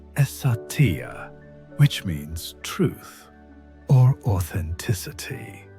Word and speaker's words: Satya: The ancient principle behind this transformation is called Sattva, pronounced as Satya, which means truth or authenticity.